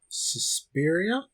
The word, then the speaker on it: Suspiria: Suspiria?